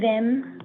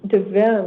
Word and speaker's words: Devisme: S is silent. Oh, wait. That's French. So So how do you pronounce it? It's Dim. Dim.